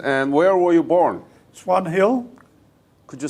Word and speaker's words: Swan Hill: Swan Hill, Could you spell it? S-W-A-N-H-I-L-L. H H-I-L-L. I-O-O. L. So Swin Hill.